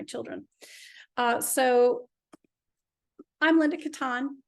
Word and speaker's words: Kattan: or for my children uh so I'm Linda Katan it's pronounced Katan but it you can pronounce it anyway and